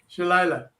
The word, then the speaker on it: Sheleila: Well, welcome, Sheleila. Okay. Welcome. You said you pronounce it like Delilah, but with a sh.